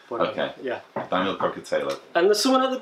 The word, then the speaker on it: Kokotajlo: Well, if you're Northern, we say Kokotajlo.